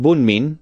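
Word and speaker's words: 文民: possibilities were considered before a newly coined compound pronounced bumin was selected whatever the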